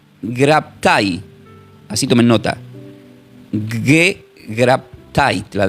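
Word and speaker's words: γέγραπται: Él dice, "Escrito está", le dice al Y esta es una palabra griega que se pronuncia como gegraptai, así tomen nota.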